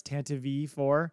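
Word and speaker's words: Tantive IV: us talking about the citation of how you pronounce tantive four? It's tantive four.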